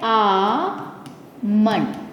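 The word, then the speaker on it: almond: तो इसका सही उच्चारण बनता है आ मंडन। तो आप नेक्स्ट टाइम जब बोल तो इसको बोलिएगा आमंड।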